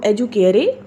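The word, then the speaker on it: educare: इनको हम अपनी लैंग्वेज में तो एजुकेयर एंड एजुसेयर कहते हैं, लेकिन लैटिन प्रोनाउंसिएशन में इसको एजुकेरे एंड एजुसेरे कहा जाता है।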